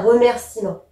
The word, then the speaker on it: remerciement: pas l'oublier un remerciement on le prononce pas c'est un e muet même si on écrit comme ça on dit un remerciement et et parfois il